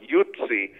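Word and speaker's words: Yutze: you have the word, the way you pronounce it, Yutzi, it sounds very much like the term Utes or Jutes that were part of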